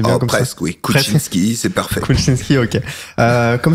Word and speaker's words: Koutchinsky: Je le prononce bien, c'est bien comme presque, ça. Oui, Kuczynski, c'est parfait.